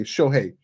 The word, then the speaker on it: Shohei: um you know it's absurd i'm just okay shohei that's how you pronounce his name okay a few things i